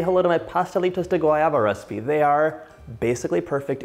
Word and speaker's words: pastelitos de guayaba: I wanted you to help me with the pronunciation. So I'm making pastelitos de guayaba. Yeah. How would you say it? You did it. Pastelitos de guayaba.